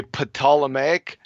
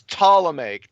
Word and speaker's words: Ptolemaic: the P and say potala make like puttin ammonia you don't pronounce the P clowns it's Ptolemaic t the P silent okay but you just